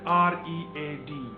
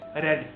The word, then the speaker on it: read: the verb, that is r e a d. So, but here, it's being pronounced differently. It is not read, it is red.